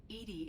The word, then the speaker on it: EDI: why are you named edie edie is the phonetic pronunciation of edi that is an acronym for enhanced defense intelligence that's all for now